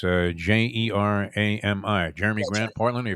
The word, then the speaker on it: Jerami: Is it Jeremy Grant? Is that how you pronounce it? It's Jerami.